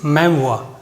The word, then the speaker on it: memoir: First, it's pronunciation, it इज मेमोir.